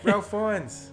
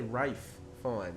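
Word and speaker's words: Ralph Fiennes: does it work so rail fines i think it's pretty cool yeah i believe so i think they say rafe fine so i've heard that ray fines sorry mate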